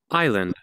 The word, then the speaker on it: island: Island.